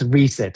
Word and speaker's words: Reaset: Did I pronounce this correctly? Riasset. the reasset approach or reset. It's reset approach.